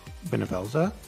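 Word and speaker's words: Bhunivelze: Is that how you pronounce it? Benevelza? Yes. I just follow the That's English how you dub. pronounce I believe Benevelza.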